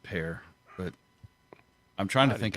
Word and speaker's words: Pierre: I think it's Pear. Pierre? They have metro area in Pear. South Dakota. Well, yeah, they're not French. Yeah, I think they pronounce it Pear.